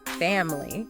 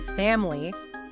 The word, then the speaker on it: family: When you first learn it, you might pronounce it very clearly with 3 parts, family. Right. However, a native speaker is more likely to say family, almost completely dropping that middle vowel.